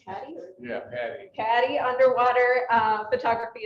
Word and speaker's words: PADI: He is a PADI, is it pronounced PADI?